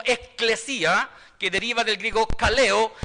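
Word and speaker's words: ἐκκλησία: En el original griego, ¿cierto?, se pronuncia como eclesia, que deriva del griego kaleo, ¿cierto?, que significa los que han sido llamados de afuera.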